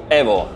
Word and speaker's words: EVO: developers of Assetto Corsa EVO or EVO? EVO. Why EVO? Because we want to keep the Italian pronounce of this word, that means evoluzione.